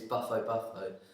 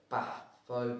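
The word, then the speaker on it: Bufo bufo: Uh, the scientific name is Buffalo Buffalo. I actually in the first ever video that we did I got the name wrong.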